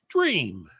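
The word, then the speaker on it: J'ram: this child J apostrophe r a m is pronounced dream I like dream better dream dream dream so now an apostrophe connects two words right so it be like jarim like jarim jarim so not dra wouldn't be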